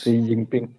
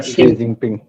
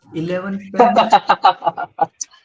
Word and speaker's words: Xi Jinping: On the television, this name was pronounced by the news reader as 11 pen.